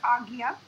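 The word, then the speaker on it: ajna: chakra t omnia chakra AG and is pronounced agnya psychological issues in unbalanced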